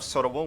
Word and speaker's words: Seorabeol: the former coach of Seorabeol whenever they were BBQ Olivers, informed me that the proper way to say it is Seorabeol.